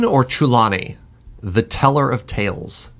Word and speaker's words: Chulane: Now, I'm going to mispronounce this. Is it Chulane or Chulane?